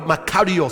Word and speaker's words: makarios: The word blessed in Matthew chapter 5 is the Greek word makarios.